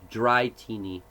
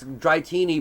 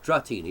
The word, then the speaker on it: Dratini: wrong which one Dratini but it's pronounced dry teeny oh really yeah yeah apparently it's dry teeny but I'm always like no Dratini it's like Arceus yeah